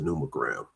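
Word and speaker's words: numogram: Or is it It is Yeah, the n u m o g r a m is numerogram.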